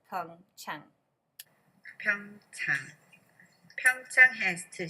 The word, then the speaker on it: Pyeongchang: before we get started here is how to pronounce Fung Cheung come time counter has two syllable poem time